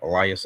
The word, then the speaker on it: Elias: Elias.